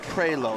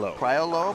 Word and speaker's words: Priolo: It's pronounced Prelo. It looks like Priolo, but it's pronounced Prelo.